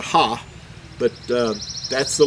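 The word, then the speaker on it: ה: second letter here is in modern Hebrew is referred to as a hey but in ancient Hebrew you would pronounce it as a ha but uh that's the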